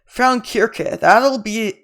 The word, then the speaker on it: Frauenkirche: Frauenkirche, that's how it's pronounced, if you're wondering.